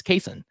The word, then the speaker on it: Cason: before Summer League and corrected the the pronounce pronunciation and and it's Cason.